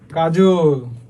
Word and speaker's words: কাজল: স্বরবর্ণ থাকলে তাহলে হচ্ছে অ এর উচ্চারণ কি হয়? ও এর মতো হয়। যেমন কাজল, কাজল চোখের মেয়ে, আমার দিবস কাটে বিবশ হয়ে তোমার চোখে চেয়ে।